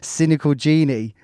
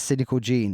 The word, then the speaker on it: Cynical Gene: Right, so moving on, we've got Cynical Gene, and I say it like that because last week I was like Cynical Genie. And he's like, bro, it's Cynical Gene, as in like your genes are your body.